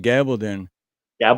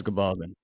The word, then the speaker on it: Gabaldon: yeah I was saying gabblin gab when I I'm like dude I've been saying your name wrong why didn't you say nothing it's Gabaldon all right so yeah